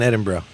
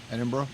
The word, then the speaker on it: Edinburgh: full places that I ever had was in Edinburgh Edinburgh Edinburgh Scotland not Edinburgh they yeah they'll curse